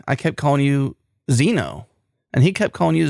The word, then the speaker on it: Zeno: saying your name wrong if it starts with z I'll answer yeah it's Zeno okay well I was